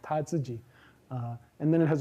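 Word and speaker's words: 他自己: It has an anaphor that behaves like this which is pronounced tatsuji.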